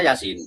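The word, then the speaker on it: يس: Yasa tulisannya yasa tapi bacanya Yasin.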